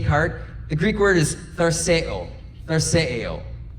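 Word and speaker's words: θαρσέω: Now, the Greek word that Jesus uses there that's translated take heart, the Greek word is tharseo. Tharseo. It's close to how it's said.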